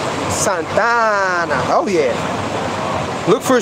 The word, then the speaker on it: Santa Ana: here in santa ana that's how you say it right yeah you don't say santa and you say santana like that boy it's hot out